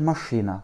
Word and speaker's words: машина: L'accent tonique tombe sur le I. Machina. Еще раз. M, A, Ch, I, N, A. Machina. Une dernière fois. M, A, Ch, I, N, A. Machina. Avec le A premier et le dernier qui se prononcent comme des petits E.